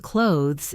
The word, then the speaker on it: clothes: The word clothes is often pronounced just like close.